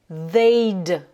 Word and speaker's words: they'd: They'd travel, ça change tout, c'est le verbe voyager, mais là conjugué au conditionnel présent.